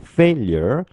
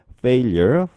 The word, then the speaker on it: failure: 자, 그러면 여기서 failure 이 발음하실 때 앞에 있는 알파벳 F 있죠? F 발음은 윗니와 아랫니 사이에 혀를 두시고 프 발음을 해주신다고 했어요.